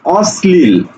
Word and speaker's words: অশ্লীল: সেইটাকে আমরা দন্তস লিখবো যেমন দেখো আমি যখন একটু আগে বললাম অশ্লীল আমরা এটাকে উচ্চারণ করছি কি অশ্লীল ছ ছ একটা ব্যাপার আছে ছ অশ্লীল অস ছ অস ঠিক আছে অশ্লীল অর্থাৎ মনে রাখবে